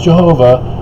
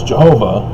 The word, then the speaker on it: Jehovah: Well, the J is a European alteration of the Yod, which is Semitic Hebrew, which is the Y sound, not J sound.